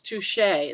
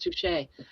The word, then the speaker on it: Touchy: My last name is Touché. It's spelled T O U C H Y. Touchy, even though it's pronounced Touche.